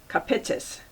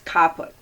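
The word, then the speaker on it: caput: and the second is kapitza alright come play actually it's qapla emphasis on the first syllable means head let's see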